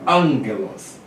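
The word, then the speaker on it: ἄγγελος: Ou outro gama é pronunciado como N em vez de G. Exemplo, gama, gama, ang, ang. Então vem angelos, palavra angelos. Tem dois gamas juntos, ó. Então a pronúncia é angelos. Tá? Esse aqui se torna um N e esse aqui continua G.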